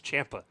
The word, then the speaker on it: Ciampa: It's Champa. Like literally, it is Champa. That is It's Ciampa. the objective way to pronounce it.